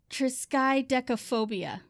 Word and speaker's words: triskaidekaphobia: the fear of the number 13 is called triskaidekaphobia guess what i said it right phobia yeah triskaidegophobia triskaidekaphobia so the fear of the number 13